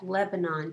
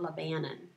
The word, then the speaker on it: Lebanon: That word looks like Lebanon to me, but if you live in Missouri, you pronounce it Lebanon.